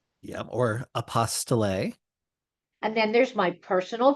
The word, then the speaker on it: apostille: A common one that I hear all the time is apostle. Yep. Or apostille. And then there's my personal favorite, apple steel. And my favorite is apostille because it rhymes with unrestricted fees.